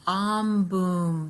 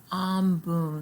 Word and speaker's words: Ambum: from the pacific and it is called the om boom stone a m b u m om boom stone this is one